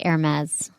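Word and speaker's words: Hermès: It's spelled Hermes, but it's pronounced Hermes.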